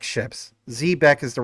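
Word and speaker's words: xebec: You see in the background, these ships, those ships are technically Zbeck ships. Zbeck is the right way to pronounce it, but of course the team calls it Zbec.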